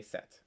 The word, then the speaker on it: sept: easy way for me the p is usually silent so you would just say set most often p's are